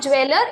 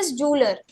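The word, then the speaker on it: jeweller: ज्वेलर इट इ नॉट ज्वेलर इट इ जलर okay जलर जैसे है तो जलरी बनाने वाला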